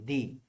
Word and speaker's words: the: Consonant থাকলে দা এর পরে দা, এবং দা এর পরে ভয়েল থাকলে উচ্চারণ হবে দি।